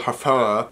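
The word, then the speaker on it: Hfuhruhurr: Michael That's really exactly how his name is pronounced. His last name is spelled H-F-U-H-R-U-H-U-R-R. When brilliant brain surgeon Dr. Michael Hafara accidentally hits gold digger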